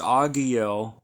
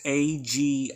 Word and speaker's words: Agiel: Again, it's Agiel.